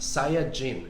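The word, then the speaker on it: サイヤ人: that's based on vegetables in japanese saiyan is pronounced saya jin with saya being an anagram for yasai which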